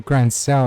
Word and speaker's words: Grancel: A grand cell. That's how you pronounce it.